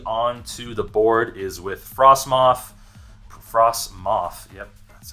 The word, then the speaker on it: Frostmoth: The way we get energy onto the board is with Frostmoth, yep, that's how you say it, Ice Dance.